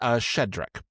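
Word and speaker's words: Shchedryk: So Carol of the Bells is based on a Ukrainian song that I believe is pronounced Shedrick.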